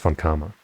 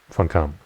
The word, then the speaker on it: von Karma: this structure no no i'm pretty sure it's pronounced von karma not von kamp uh please help let